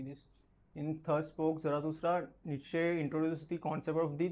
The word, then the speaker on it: Nietzsche: His name is Friedrich Nietzsche. I don't know the pronunciation of. So there are different ways how this name can be pronounced. Some of them say it is Nietzsche.